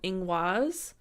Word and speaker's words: Ingwaz: I'm gonna teach you guys today is called Eng waz and it is spelled ing waz and the important part of